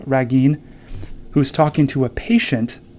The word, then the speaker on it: Ragin: called a dror ra Ragin I don't think it's pronounced Reagan but Ragin who's talking to a